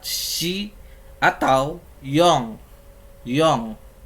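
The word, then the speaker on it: よん: Yong. Secara penulisan ditulisnya yon, namun dibacanya yong.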